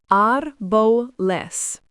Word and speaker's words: árboles: Árbol, pronounced árbol, means tree, consonant ending, plural, árboles, pronounced árboles.